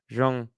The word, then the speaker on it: Zhang: It's pronounced Zhang. I knew it was pronounced Zhang, but I just make the mistake.